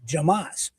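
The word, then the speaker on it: jamás: yelled from the gallery jamas. And that means in sph. So the guy yelled never from the stands, but it is pronounced like Hamas in English.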